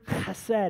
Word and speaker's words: chesed: The term translated, the term that's used, that's translated kindness, is the Hebrew word chesed. Everybody say chesed. You know you're saying it correctly when it sounds like you're clearing your throat.